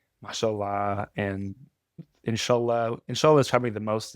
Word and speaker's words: inshallah: less less emphasis on the last syllable. People always want to because they hear Allah and they're like, "Ah, inshallah." It's actually inshallah. It's in the middle.